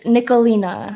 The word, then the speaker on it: Nicholena: want to make sure i don't pronounce your name wrong it's nicolina nikolina okay because for some reason i was like